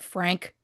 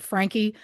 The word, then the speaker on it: Franke: At the end of last week's episode, I said Frank. Obviously, I should have said Frankie.